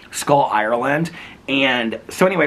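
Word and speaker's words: Schull: looks like sha C It's s c h u l l but it's pronounced skull skull Ireland and so anyway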